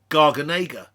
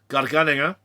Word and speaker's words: garganega: great variety called garganega you see it and go oh garganega same variety okay you just said it wrong okay so garganega it can also be